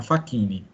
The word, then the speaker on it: Facchini: é ele foi fazer um serviço na na fakini tá você jovem você de repente não ouviu falar na fakini mas vocês conhecem a fakini pelo menos de